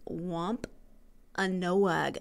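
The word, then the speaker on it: Wampanoag: I can say this wamp a noag I was trying to put too many syllables in their Wampa noag Indians held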